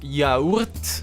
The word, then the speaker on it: yaourt: Again, O and U become a U, and that's basically the only thing you need to keep in mind. You just say ya, u, rt, yaourt.